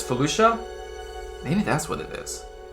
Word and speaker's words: Felucia: them so Lucia Lucia so it is Felucia I said Fallujah but it's Felucia maybe that's what it